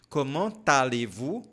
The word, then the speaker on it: Comment allez-vous: Ou seja, aqui nós temos uma ligação, você vai ter que pronunciar o T. Comment allez-vous?